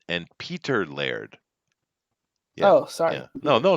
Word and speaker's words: Peter Laird: this is from Bleeding Cool Kevin Easter man petty Lord reunite after Netflix the toys that made us